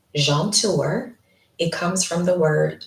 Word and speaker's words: Jaunteur: It is pronounced jeanour.